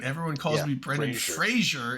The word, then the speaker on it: Fraser: Everyone calls Yeah, me Brendan Fraser. It's not It's Fraser. Fraser. It's Fraser, like laser, Yeah.